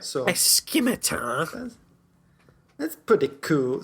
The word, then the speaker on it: scimitar: So a scimitar. That's pretty cool. Scimitar with a hard C. Scimitar. The hardest C.